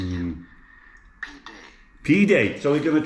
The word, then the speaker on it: pide: Pide.